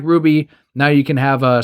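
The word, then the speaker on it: RWBY: before but it's for Ruby which is spelled rwb why well DC Comics is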